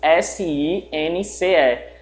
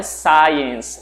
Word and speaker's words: since: Cuidado com a pronúncia dessa palavra, não é science. Science é uma outra palavra de uma outra pronúncia que também existe, que é ciência. Só que esse advérbio aí, since, ele é pronunciado dessa forma.